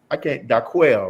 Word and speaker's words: Daquel: Daquel, right? Am I pronouncing her name right? Oh, yes. Yes, sir.